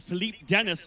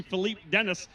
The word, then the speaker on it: Philippe Dennis: It's actually Philippe Dennis. I know you want to use that fantastic French pronunciation, but it's actually Philippe Dennis.